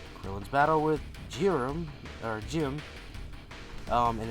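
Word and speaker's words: Jiren: airing July 16th krillin's battle with jiram or Jim um and it's pronounced like gy it's supposed to be a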